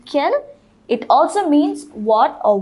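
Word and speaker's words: quels: use this word q-u-e-l-s it is also pronounced ken it also means what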